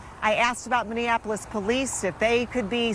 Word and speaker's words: Minneapolis: The And for the record, it's pronounced Minneapolis, not Minneapolis, just so you know.